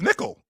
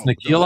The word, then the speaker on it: Nickeil: It looks like it's pronounced Nickel. Well, okay, fine. No, but I can't call him that because that's not the way. That's not his name. No, it's Nickeil Alexander-Walker, Jalen Duren, Denny Advije.